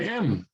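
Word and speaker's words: ㅁ: here we go yeah it's like an m m m is in mother okay so there we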